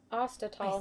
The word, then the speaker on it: Ostertal: Ostertal. I see. That's how you say it.